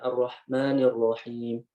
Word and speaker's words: Ar-Rahmanir Rahim: Kesalahan yang kedua ini lebih kepada bunyi hamsnya ini lemah. Ya, harusnya Ar-Rahmani dibacanya Ar-Rahmanir Rahim. Ar-Rahmanir Rahim. Harusnya Ar-Rahmanir Rahim. Ar-Rahmanir Rahim. Tapi kita bacanya Ar-Rahmanir Rahim. Ar-Rahmanir Rahim. Ya, harusnya Ar-Rahmanir Rahim. Ya, hamsnya ini harus kuat. Ya, harus mengalir, harus mendominasi seperti itu.